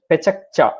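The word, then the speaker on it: pecha kucha: It's a Japanese term. It is spelled as Pechkucha. Pechakcha. Okay, it has to be pronounced as pechakcha.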